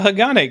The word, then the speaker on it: Hagane: I used the name wrong, and we'll see how many people are mad.